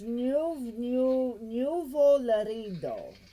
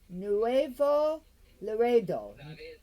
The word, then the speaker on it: Nuevo Laredo: right and then there's new new larindo how do you say it nuvo say it again nuevo laredo and then in there it's